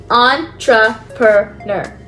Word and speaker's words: entrepreneur: You say it like this: entrepreneur. It's a French word.